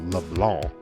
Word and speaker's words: LeBlanc: We're going to take that silent C in the French version of LeBlanc and pronounce the hell out of it.